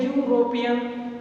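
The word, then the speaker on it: European: अगले मीनिंग हमने लिया यूरोपियन, EURO यानी ई से शुरू है लेकिन जो इसका उच्चारण है वो हमारा कॉन्सोनेंट है, यानी जो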